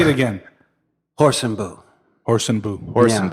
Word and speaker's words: Hoorsenbuhs: H and boo yeah with or without the S it's without the S